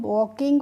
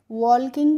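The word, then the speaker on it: walking: Rule revise कीजिए कि एल के बाद जब भी किसी वर्ड में के आएगा तो वहां पे बच्चों एल का हमें प्रोनाउंसिएशन नहीं करना होगा। यानी कि एल हमारी साइलेंट रहती है। तो इसको हम वॉकिंग पढ़ेंगे। क्या पढ़ेंगे? वॉल्किंग नहीं पढ़ते हैं। क्या पढ़ते हैं बच्चों? वॉकिंग।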